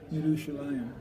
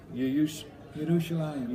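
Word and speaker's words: ירושלים: Word from Yerushalayim. Yerushalayim. That's how you say it in Hebrew.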